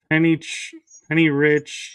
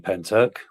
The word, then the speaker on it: Pentyrch: I'm thinking that's pronounced Penny Rich. It's PentyRch. A lady called Kaz Clark had an incredible encounter with a pyramid craft. right. So, yes, I do. Right. I live 10 minutes away from Penturk. That's how it's pronounced, mate.